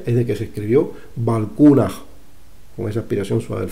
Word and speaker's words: Balkuunah: que se pronunciaba así, pero ahí está, Balkunaj. Así que ya nos tenemos que olvidar de Bulkuna, ¿vale?